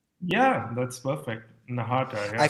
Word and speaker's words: Nahata: Nahata, I yeah, feel like it's a short right? So Nahata.